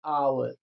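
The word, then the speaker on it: hour: लोग एन लगाते हैं क्योंकि इसका उच्चारण जो होता है आवर होता है हिंदी के आ मतलब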